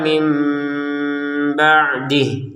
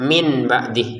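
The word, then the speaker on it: مِنْ بَعْدِهِ: Jadi jangan dibaca min ba'dih lagi. Tapi kan sekadang harus dibaca dengan mim ba'dih seperti itu.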